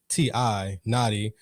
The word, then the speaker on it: Na'khi: And that's spelled KNXXTI, Na'khi.